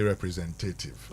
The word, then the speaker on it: representative: So you don't say representative, representative. Not tative. Mhm. Because you see the stress is only on the zen. Representative then the rest represent. So representative.